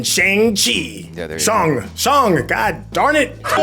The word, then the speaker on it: Shang-Chi: Shang, god darn it.